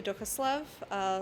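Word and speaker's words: Duchoslav: perfect thanks ryan so my name is dukaslov last name is spelt d-u-c-h o-s-l-a-v and i'm a first name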